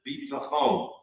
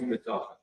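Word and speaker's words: ביטחון: By the way, Israelis pronounce it bitachon, but to my father's generation, it was always B'tochen.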